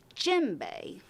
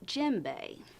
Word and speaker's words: djembe: say this part again djembe it starts with a D but you sort of say it like the J the D is silent djembe now djembe where did you get